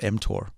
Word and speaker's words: mTOR: talk about before yeah you're pronouncing it correctly it's called mtor okay m stands for